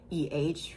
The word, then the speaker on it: eh: I've said it before, but it's not like a common thing for me to say. But they do say A, which is spelled E-H for them.